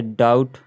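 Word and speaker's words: doubt: होता देखते हैं जैसे बी टी से पहले आया भी साइलेंट होता है तो जैसे डाउट डेप्ट डाउट और सटल डेप्ट डाउट शटल डेप्ट डाउट शटल डेप्ट डाउट शटल इसमें टी से पहले बी है इसलिए बी जो है साइलेंट है आगे चलते हैं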